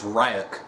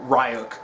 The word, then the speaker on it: Ryuk: cipher but uh but it's funny because light pronounces his name is ryuk oh don't trust right up and then ryu